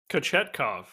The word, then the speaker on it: Kochetkov: Kochetkov. Yes. How do you say it? Kochetkov.